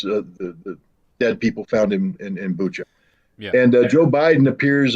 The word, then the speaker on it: Bucha: well, I believe it's pronounced Bucha, but I'm lazy and American, and therefore I butcher every language I ever try, and it often comes out Buka.